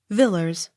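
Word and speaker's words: Villiers: v i l l i e r s villers w a l d e g r a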